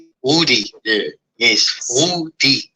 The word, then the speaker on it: Woody: Could you tell us how the name is pronounced and the world how the name is pronounced? It's Woody.